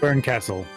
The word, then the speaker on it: Berncastel: Burncastle. Yeah, but that's very clearly spelled. And Beatrice's name is pronounced weird in this game too.